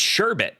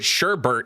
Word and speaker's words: sherbet: It's sherbet. Peach. No, it's not. Dear Mario. Whoops. Yeah, it's sherbet. No, it's not. Oh, no. Wait. Look. That's sherbet, Josh. Sherbet? Sure. But sherbert is not a thing.